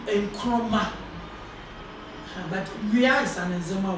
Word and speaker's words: Nkrumah: early head teacher was a Fantin who could not pronounce Ngoloma, the Nzema word, and so he anglicized or fantilized it to read Nkrumah.